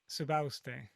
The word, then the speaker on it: Subauste: Subauste.